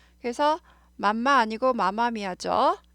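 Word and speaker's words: Mamma Mia: 맘마미아 하지 않아요. 마마미아 하고요.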